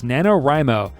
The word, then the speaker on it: NaNoWriMo: the internet which I'm very familiar with this nanowrimo which is how it's pronounced yeah National novel writing month I was called nanowrimo yeah I know that too do you have